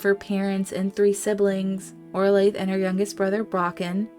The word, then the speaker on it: Orla: I was playing but it is pronounced Orla not oral life Orla and I will get